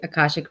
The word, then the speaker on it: Akashic: Um, and I'm gonna mess up the pronunciation. Akashic? Akashic.